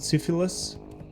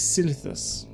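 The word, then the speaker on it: Silithus: Which I didn't realize a lot of people don't know and can't pronounce. They call it syphilis. That's what your mom has. This is Silitus.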